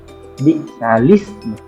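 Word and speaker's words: بِئْسَ الِاسْمُ: Jadi cara bacanya itu biksalismu, yaitu memindahkan harakat alif yang kasrah itu pada huruf lam yang mati.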